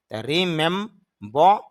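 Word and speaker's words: remember: তারপর আর সাউন্ড, এটা আবার ব্র্যাকেটের ভিতরে, ব্র্যাকেটের ভিতরে দেওয়ার উদ্দেশ্য হলো এখানে র সাউন্ডটা অল্প হবে, তেমন বেশি না।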